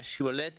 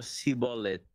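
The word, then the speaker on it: שיבולת: Y resultó que estas dos tribus pronunciaban el nombre de la planta Shibolet de manera ligeramente diferente. Uno decía Shibolet y el otro sibolet.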